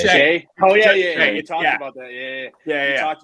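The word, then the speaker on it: Skjei: I'm going to butcher his last name. Skiji? It's just Shay.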